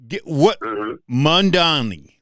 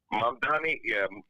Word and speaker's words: Mamdani: we're going to be there for a while, Mondani. Did I say his name right? Go. What? You got to give me your 2 cents. You got to give me your 2 cents on that. Yeah. Mamdani, my 2 cents is this.